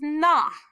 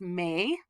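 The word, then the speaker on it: 名: This is na. Na means name. Sometimes it's pronounced may. You may. To have a name is to be famous. Sometimes it's pronounced myo. Usually it's pronounced na, and I'm going to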